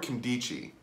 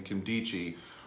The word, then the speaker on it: Nkemdiche: name I actually got this one down Robert candy Qi that's how you pronounce his name Kim D Qi Robert candy Qi a defensive lineman from the Arizona Cardinals this